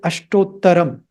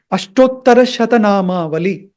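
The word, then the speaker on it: अष्टोत्तरशतनामावली: And many people, even in ashram and other places, they use this word ashtottaram. But actually, Ashtottaram is just a short form. The actual word, or a combination of words, is Ashtottara Shatanama Vali.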